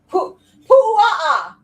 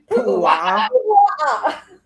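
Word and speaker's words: puaʻa: Pu'a'a. Jesus Christ, Ashley. You're Say gonna it with me. Pu'a'a.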